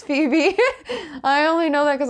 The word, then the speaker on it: Phoebe: and ones this woman how do you say this name for webby oh phoebe phoebe yeah it's phoebe really that's how you spell phoebe i always thought it was like faux webb no it's phoebe i